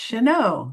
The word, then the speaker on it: Chenot: It's pronounced Chanel rhymes with Merllo.